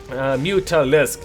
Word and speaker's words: Mutalisk: Mutalisk, yes, 3 syllables, forget about it.